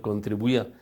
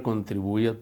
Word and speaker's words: contribuía: No, son 4 sílabas, contribui, pui, y la A separada. ¿Por qué? Porque la tilde que se forma, que se coloca en la I, rompe el diptongo posible de la I y de la A, y la A queda suelta. Como vocal fuerte tiene toda la fuerza de una sílaba por sí misma, de manera que la palabra contribuía tiene 4 sílabas.